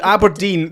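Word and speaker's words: abrdn: me aberdeen aberdeen aberdeen so aberdeen you've to pronounce it aberdeen but the vowels are gone the vowels are gone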